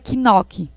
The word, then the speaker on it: knock: fala dessa forma aí eu tenho essas letras knockout2 noc noc não pronuncia esse cara não tá certo né knock é noc noc noc inglês seria